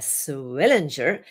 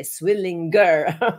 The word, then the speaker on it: Swillinger: My guest today is Diana Swillinger, and I practiced that a little bit because it's not so easy for a German to say that. I would have totally pronounced it the German way, Swillinger, right?